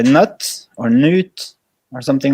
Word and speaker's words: Knut: like two first names cuz my name is Newt but yes you have truly tried boomer so they try to just say the first part which is K and UT and most people say nuts or Newt or something like that so not can you